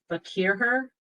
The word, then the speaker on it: Farquhar: me yes we can you did fine you did pronunciation that was fine oh well thank you